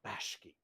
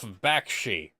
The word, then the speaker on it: Bakshi: Astartes, I beg of you, do not put me in a Ralph Bashki movie. What's wrong with Ralph Bashki? He's a Well, for one talented thing, his name is director. pronounced Ralph Bakshi.